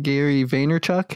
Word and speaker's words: Gary Vaynerchuk: Yeah, Yeah, for well- those who don't really know, Gary, I don't know if I'm saying Gary Vaynerchuk, is that how it's Yeah, pronounced?